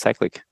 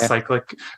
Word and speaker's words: Cyclic: So you're using, I would say, the European pronunciation. I would call it Cyclic. Cyclic is fine as well. Yeah. If you're in a more American side, this side of the Atlantic.